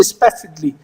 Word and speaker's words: specifically: to the next one people will say specially people will say specifically it's not kali okay specifically what you going to do a is silent a word is silent when you say specifically how you going to say it specifically so specifically you're not going to stress on A you're going to stress on L because there's double L there